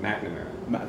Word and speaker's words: McNamara: Mcnamara. There you go. Because I never pronounce your last name. Yeah, I know. It's MC, but you got to go Mac on it.